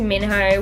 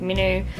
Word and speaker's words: Minho: heart really belongs to Minho, which is how I pronounce his name, but the movie pronounced like Minu.